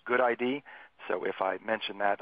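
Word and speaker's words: GUDID: Identifier database and so the GU D ID is pronounced good ID so if I mention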